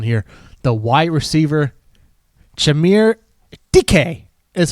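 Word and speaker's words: Dike: The wide receiver Chamir DK is how you pronounce it. It's not pronounced dyke.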